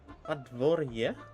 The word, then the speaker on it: Podvorye: Oh, it's not pod. It's pod. It's Padvor. Padvorye? Oh, with a quick yeah. Oh, okay. So there's no. I see. I see. Got it. So it's pod. Unstress sound. Pod. That's pod. The main stress of the word pronounce war or bore.